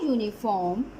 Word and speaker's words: uniform: But we use a uniform and an hour. So why is that? It's because U is giving us the sound of uniform. Uniform. It is giving us a Y sound.